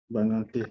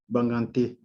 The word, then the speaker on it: Bangangté: and I want to make sure, I'm going to try to pronounce this correctly. Bangangté? Bangangté, yes. Can you say it again? Bangangté, Bangangté.